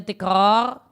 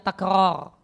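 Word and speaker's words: تكرار: Banyak orang bacanya tikrar, dan itu cara baca yang salah. Yang betul bacanya takrar, bukan tikrar.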